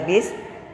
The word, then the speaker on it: bus: seperti ini kemudian lagi kosakata baku dengan ejaan bus namun dibacanya adalah bis tapi kosakata non baku